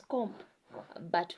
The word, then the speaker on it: comb: example in the word com it's rich as com but we pronounce it as comb I comb my hair